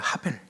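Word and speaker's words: הבל: 아벨의 히브리어 발음은 아벨이 아니고 하벨입니다. 하벨. 따라서 한번 해 보실까요? 하벨. 예. 하벨.이 이 하벨이 이제 라틴어와 그리고 이제 영어를 거치면서 아벨 이렇게 이제 변형이 된 거예요. 원어는 하벨입니다.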